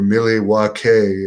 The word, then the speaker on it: Milwaukee: the aew tapings in milwaukee or miley waukee as they said in wayne's world is the proper way the indians used to pronounce it did 5 200